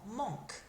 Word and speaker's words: manquent: That ent is silent on these verbs that are the il or elle form in that present tense. So it sounds exactly the same as it did before. Manque.